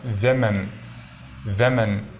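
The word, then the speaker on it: women: کو ہم MEN لکھتے ہیں تو اس کا تلفظ ہوگا ویمن، اور اس کا مطلب ہوگا زیادہ عورتیں۔ وومن کا مطلب ہے ایک عورت، ویمن کا مطلب ہے زیادہ عورتیں۔ یہ آگے انشاءاللہ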